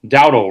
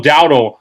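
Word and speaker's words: Dowdle: Uh Rico Dao, right? Yeah. Yep. Rico, I keep getting his name wrong. Rico Dao, I feel like, will be the difference maker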